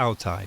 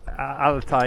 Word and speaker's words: Altay: So how do you say Altai in English? Altai. Altai. Yeah, Altai. Okay. And in Chinese? Altay. Okay. Yes. So it's Altai, Jack. I had it right before.